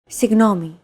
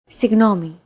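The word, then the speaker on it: συγγνώμη: often romanized like this signomi this character isn't pronounced using an English G sound at all it's like a very soft continuous and loose held G almost as if you're gargling but don't make it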